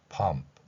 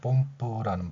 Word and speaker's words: pump: P는 피읍이고요. U는 어로 소리가 납니다. M은 미음으로 소리가 났고요. P는 피읍으로 소리가 났습니다.